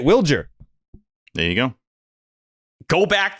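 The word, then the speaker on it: Wilyer: That was the first time that I met Willier in person, and he pronounces it Wilger.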